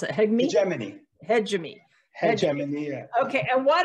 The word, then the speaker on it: hegemony: Monetary, you know, how do you pronounce it? Hegemony.